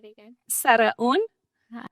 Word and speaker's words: Saraun: is, but I'm going to let her pronounce her last name correctly for you. It's Saraun. Saraun. Say it again. Saraun.